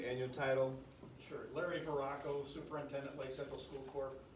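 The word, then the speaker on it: Veracco: sir can you say your name and and spell it please and your title sure larry verracco superintendent lake central school court v-e-r-a-c-c-o and to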